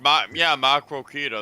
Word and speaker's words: Maquoketa: Yeah, it's pronounced Maquoketa. That's exactly how it's pronounced.